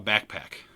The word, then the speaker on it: Bakpak: The R series of product from them has been great, and they have what they call Backpack, BAKPAK is how they spell it.